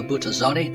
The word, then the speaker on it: Buttazzoni: So heading up the program for Prager University is Buttazzoni. Did I pronounce that correctly?